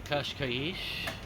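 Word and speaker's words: Cascais: well as we say goodbye to kashkaish and I finally learned how to say it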